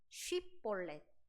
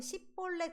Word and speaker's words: 쉽볼렛: 똑같이 에브라임의 어떤 방언이 있냐면 쉬 발음을 잘못합니다. 그러니까 시 이렇게 합니다.